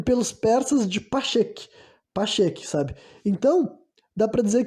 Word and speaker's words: Pacheque: era chamada pelos indianos e pelos persas de Pacheque, sabe?